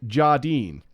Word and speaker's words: Jardine: Breaking Bad actor Keith Jardin who also had the best nickname the dean of mean Keith Jardine it Rhymes that works but despite his awesome